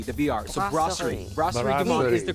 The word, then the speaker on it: Brasserie: but out of the b the br so grossery is the correct name and we are here